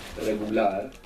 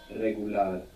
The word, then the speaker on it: regular: about this R an initial R like in regular in most Spanish dialects it's a rolling R you get this of the tongue regular real we saw this